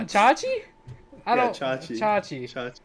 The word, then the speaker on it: Chache: It's Chi-chi. literally like, Chi- it's 6 letters, dude. Just sound it out. Chanchi? There's no N. Where'd you get the N from? Chachi?